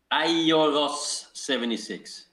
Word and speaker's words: Airos76: Ioros76. Oh, what is the American pronunciation of your IG Just think handle?